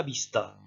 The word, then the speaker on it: vista: après moi hasta la vista et vous n'oubliez pas que le v se prononcent b alors cette expression là